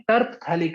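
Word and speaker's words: terephthalic: तो इसको हम क्या कहते हैं, टर्पथैलिक एसिड, TERPHTHALIC एसिड, टर्पथैलिक एसिड। तो ये टर्पथैलिक एसिड होता है। टैलिक एसिड लिख लो आप। तो लिखने में इस तरीके से होगा, पीएच साइलेंट होता है इसके अंदर।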